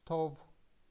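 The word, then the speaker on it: טוב: sound or and the final letter is bait and it is pronounced as V so we can read this word as Tov and the meaning of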